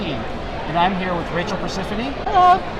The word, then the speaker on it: Perciphone: And I'm here with Rachel Perciphone. Hello. How did I do? Did I pronounce it right?